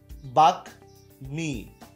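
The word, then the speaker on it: বাগ্মী: তো এই আমরা যদি উদাহরণগুলো একটু দেখতে থাকি, যেমন বাঘ মি, আচ্ছা তাহলে এখানে উচ্চারণ বহাল আছে, এটা অনেকে বাগ্যি বলে, কিন্তু এরকম হবে না।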